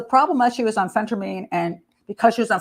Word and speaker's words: phentermine: Diet pills, generally speaking, if you get them legally, is called phentermine. I'm sorry, I pronounced that one wrong too. Phentermine.